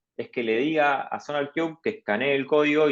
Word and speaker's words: SonarQube: Sí, se pronuncia SonarQube.